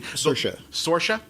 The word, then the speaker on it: Saoirse: Is a movie with I'm not even going to try to pronounce her name because I'm going to get it wrong, and that's mean. Saoirse.